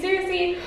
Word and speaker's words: Circe: We are reading Circe, or Circe, depending on how you say it, by Madeline Miller.